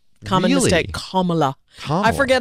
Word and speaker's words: Kamala: Kamala. Kamala Harris. Kamala. Like Pamela. Like comma chameleon.